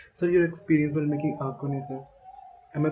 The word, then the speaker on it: Axone: So your experience while making Akon, sir. Am I pronouncing it right?